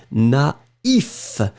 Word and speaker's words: naïf: But if you put the tréma, then it means that you will have to pronounce first A, na, and then separately you will pronounce the I. Naïf.